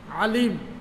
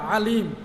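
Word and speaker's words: عليم: আইন লাম মিম আলিম, আইন লাম মিম আলিম, আইন আলিফ আর কি। আইন আলিফ লাম মিম হইল গিয়া আলিম, জ্ঞানী বাংলাতে হইল গিয়া তার অর্থ জ্ঞানী বা জাননেওয়ালা। জ্ঞানী বা জাননেওয়ালারে কোয়া হয় আলিম।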